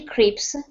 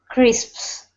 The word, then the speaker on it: crisps: on let me just let me just correct the pronunciation salty crisp saly Cris crisps good two s's crisps like that okay very good uh